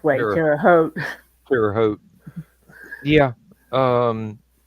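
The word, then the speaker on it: Terre Haute: the Twins and they always pronounced it ter Hut on there until the think it was like the third season and then they started pronouncing it uh the correct way terot terot yeah um like I said I should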